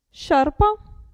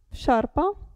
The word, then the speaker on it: sciarpa: è un verbo scendere il gruppo sc si pronuncia sci sciarpa sciarpa e qui cuscino cuscino